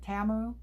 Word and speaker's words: Temu: that don't know what Temu is anymore. And I'm supposed to be pronouncing it differently. I think it's Temu. We've done Temu for so long, but apparently they pronounce it Tamu.